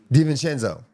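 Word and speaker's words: DiVincenzo: How do you pronounce his last name again? Danchenzo.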